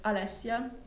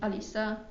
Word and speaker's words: Alessia: My name is Alessia. Yes. But I mean, also some people call me Alisa or Alicia. It's you can say.